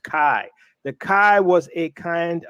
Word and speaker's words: chi: looks like X is named Kai which is pronounced Kai the kai was a kind a very hard